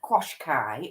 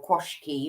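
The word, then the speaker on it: Qashqai: manual diesel i have had an automatic nissan quash kai or kwashki or koshikara or whatever however you pronounce it akwashka i call it oh which is supposedly a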